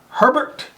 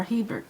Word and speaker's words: Hebert: All right, so our garden spotlight this week is from Herbert, and she is DeQuincy, Louisiana. Herbert or Hebert? Hebert, H-E-B-E-R. Hebert.